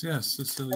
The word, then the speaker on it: Cecilia: Cecilia? Am I pronouncing that right? Amazing Grace. Yes, Cecilia.